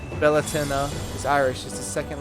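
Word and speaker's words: Bealtaine: Beline pronounced Bellatennena is Irish is the second largest holiday in the pagan calendar behind Sam Hayne.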